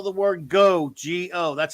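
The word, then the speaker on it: geaux: Well, actually, there's a Cajun spelling of the word go. Yeah? G-E-A-U-X. That's how they say it down here.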